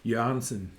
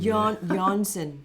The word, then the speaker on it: Jørgensen: Jørgensen. Oh, I didn't know that. Jørgensen. Jørgensen.